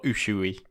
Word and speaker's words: Usue: I suppose more Usui, but Usui, something like that. That's fine. But yeah, it's spelled Usue.